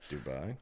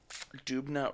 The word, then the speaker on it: Dubna: Nuclear Research in I don't know how to pronounce that. Dubai? No. Dubna, Russia.